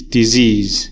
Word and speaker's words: disease: or the strong syllable so we know in this word disease disease it's like this disease so the strong syllable is the second syllable wine it comes after